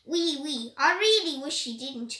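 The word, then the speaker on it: oui: I knew that was French for yes, but it is pronounced wee, wee.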